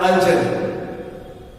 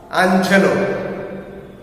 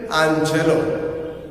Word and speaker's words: Angelou: By Maya Angelou. Students should take extra effort to learn the name and spelling. It's pronounced as Angelou, not angel, Angelou.